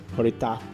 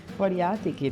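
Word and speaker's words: horiatiki: Horataki horaka horatiki. Dude, I keep saying it wrong.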